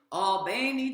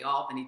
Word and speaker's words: Albany: December of 1961 in Albany, Georgia. Now, I never quite say it correctly. You know, I'm from up north, so I want to say Albany, Georgia, but it's more like Albany, Georgia.